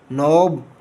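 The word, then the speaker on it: knob: And turn the door नॉब to open the door, नॉब का के silent है।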